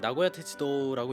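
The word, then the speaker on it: 名古屋鉄道: 정식 이름은 나고야철도, 일본어로는 나고야테츠도라고 읽는데 보통은 줄여서 메이테츠라고 부르죠.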